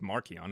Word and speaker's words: Marcion: pronounced Markion and literally means little Mark.